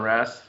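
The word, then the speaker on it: Alipús: the second one is alipoos alley puss that's how we pronounce this one um there's a brand that's been around it's been uh about 1999.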